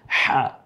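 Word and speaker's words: ح: যে চাপ দিয়ে সেজন্য জাস্ট কণ্ঠের মিডেল থেকে হা এভাবে উচ্চারিত হবে একটু ফেসফ্যাসা আওয়াজে পরেরটাও কি আছে ওস্তাদ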